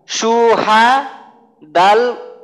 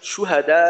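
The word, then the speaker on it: شُهَدَاء: বিন্দুমাত্র টান দেবো না এইখানে এইটার উচ্চারণটা হবে পুরা শব্দের উচ্চারণটা সুহাদা এইখানে যদি মনে করেন আমি এইভাবে বলি সুহাদা তো সিনে যে আমি একটু টান দিলাম এই টানটা কিন্তু কোন ভিত্তিহীন একটা টান তো এই টানটা দেওয়া যাবে না সু হা এটা ভুলে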